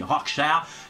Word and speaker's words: Rorschach: Alors après c'est pareil selon la contrée dans laquelle tu vis, on le prononce pas pareil. Moi je dis Rorschach parce que ça sonne bien. Par exemple Rorschach, ouais, bah, ça sonne moins bien quoi.